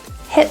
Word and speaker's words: hit: Both T's in this phrase are pronounced as a glottal T, hit and jackpot. So those T's are not released through the mouth, but kind of held in the glottis, hit. It's not a deletion or silence, but rather a pressure holding and then release.